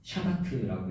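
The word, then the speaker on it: שבת: 안식의 히브리어 원어는 샤바트라고 읽습니다.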